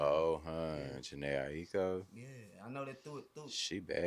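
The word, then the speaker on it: Jhené Aiko: Oh, Yeah, Janae Aiko.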